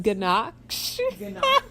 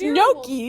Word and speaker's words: gnocchi: Ganache?